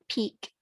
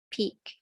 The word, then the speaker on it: Pique: a program called Operation Peak, and that's spelled Pique, Peak, which included bouncing radio signals